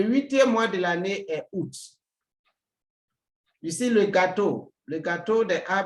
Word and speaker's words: août: And août, the U keeps the sound U.